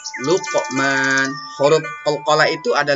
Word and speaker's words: Luqman: Nah, jadi qaf itu kalau dia mati bacanya luqa. Nah, gitu nak ya. Luqman.